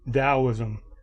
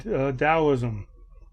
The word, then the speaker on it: Taoism: spelling of it t-a-o-i-s-n Taoism the t is pronounced like a d um so we have